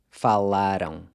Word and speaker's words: falaram: Once again, that AM is pronounced ão. Falaram.